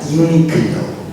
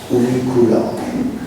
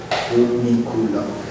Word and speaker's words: Uniqlo: Okay, Uniqlo is not English; it's Japanese, so you should pronounce it not Uniqlo but Uniqlo. It's Japanese foreign word. Uniqlo.